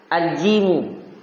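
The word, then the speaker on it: جيم: Jadi bukan ja. Al-jimu.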